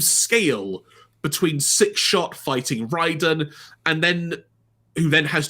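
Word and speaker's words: Raiden: we have now had it confirmed it is pronounced as Ryden which I think is what we figured out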